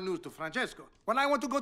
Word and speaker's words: Francesco: Francesco Bernoulli. No wonder there's a crowd. Wait, why do you know his name? And don't say it like that. It's three syllables, not 10.